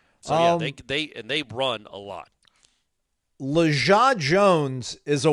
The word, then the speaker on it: Lajae: The pronunciation phonetically spelled out as Luh, la, dash, Zhah. And then parenthetically says soft G. I guess Jah, yeah, Zhah.